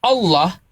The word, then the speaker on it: Allah: Oh, itu karena tata kaidah ya akar kita mengambil kosakata Allah di Arab ini memang tebal. Ada kaidahnya apabila diawali dengan fathah atau domah maka dia tfhim Allah gitu pengucapannya bukan Allah. Bukan Allah.